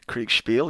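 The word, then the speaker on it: Kriegsspiel: my lust for a Craig spiel type of thing that's how you say it isn't quick spiel Craig spiel yep that's the one okay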